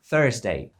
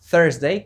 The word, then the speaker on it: Thursday: w tym przypadku mamy ten dziwny zlepek TH Który czasem płata nam figle To jest coś co nie występuje w języku polskim nawet w wymowie polskiej